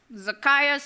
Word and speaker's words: Zacchaeus: to pronounce these names zacchaeus for example zacchaeus success zacchaeus out for i've read